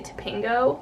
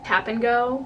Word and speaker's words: Tapingo: is download something called, it's spelled Tap and Go, but we say Tapingo, which I know other schools say Tap and Go, but we say Tapingo. Like we say like all one word.